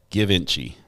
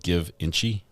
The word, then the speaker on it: Givenchy: Givenchy. Is it all one word? It's like one syllable. Givenchy. That's still two syllables. Givenchy. Is it Givenchy instead of Give Inchy?